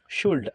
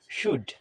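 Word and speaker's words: should: আমরা অনেকেই এটাকে বলে থাকি শুল্ড, আসলে এটার উচ্চারণ শুল্ড না, এটার উচ্চারণ হবে শুড।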